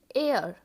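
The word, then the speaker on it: heir: वारिस, वारिस को इंग्लिश में बोलते हैं एयर, एयर। इसमें एच साइलेंट होता है।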